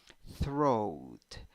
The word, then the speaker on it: throat: have o and a when you pronounce it you only have o with a hat which sounds like oh oh so throat throat number nine five